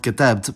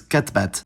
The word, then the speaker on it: كتبت: I wrote and you masculine wrote are both katabt, but she wrote is katbat.